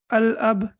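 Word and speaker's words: الأب: Here we have al-ab. So how do we pronounce it? Al-ab, right? So lam will be pronounced. Why lam will be pronounced? Because after lam, there is no tashdid.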